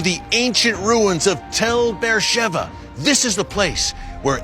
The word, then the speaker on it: Beersheba: Beersheba, it reads on the page, but it's pronounced Beersheba here in Israel.